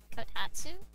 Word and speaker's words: kotatsu: You have a kotatsu?